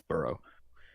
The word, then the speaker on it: borough: It's pronounced the same way as like you to dig, like burrow. Okay. It's pronounced that like that. Palace It's burrow.